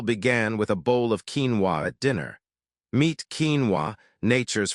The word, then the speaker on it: quinoa: And it all began with a bowl of quinoa at dinner. Meet quinoa, nature's forgotten protein. Quinoa, pronounced quinoa, is often mistaken for a grain.